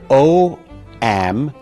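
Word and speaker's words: ogham: That word is pronounced om.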